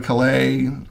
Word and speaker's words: Calais: The British put the emphasis on the wrong syllable. I'd go to Calais, for the weekend because it was fun.